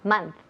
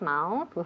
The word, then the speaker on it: month: Again, month. Month. Muy bien, muy importante. No olvidéis la pronunciación de month, mes. Nunca decimos mouth. No, month. Muy bien.